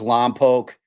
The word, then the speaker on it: Lompoc: Uh, I I believe it's Lampoke is how they prefer to pronounce it out there.